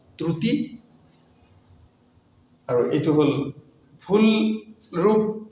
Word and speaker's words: ত্ৰুটী: উকার ক্রুতি হয়ে গেল কিছু মানে ত্রুটি তো ক্রুতি কয় ত্রুটি তো ক্রুতি লিখে উঠলে বিভিন্ন সমস্যা